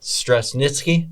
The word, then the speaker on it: Straschnitzki: Um, and I'm going to get your name wrong, but Stress Nitzki, there you go.